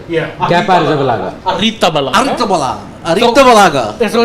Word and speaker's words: Arrizabalaga: Kepa Arrizabalaga. Arita Balaga. So it's like with all Z's in Spain is yeah, pronounced Basque.